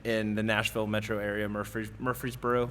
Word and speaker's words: Murfreesboro: the Nashville Metro Area Murfreesboro that's a hard word to say by the way we're freezing Murfreesboro there's a drum corps show